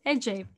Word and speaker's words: Ece: pronouncing it right which i wasn't but it's pronounced aj it's very nice to have you here thank